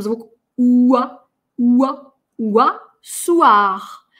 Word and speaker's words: soir: Уа, уа, уа, soir. Это «г» на конце, на самом деле оно не «р», оно очень глухое, его даже опускают, его кто-то даже не слышит.